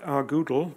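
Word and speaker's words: rgdal: When I talk about rgoodle, it's because Frank Womerdam said that he pronounces GDAL Goodle because he wanted it at one stage to be object-oriented, but it never got there.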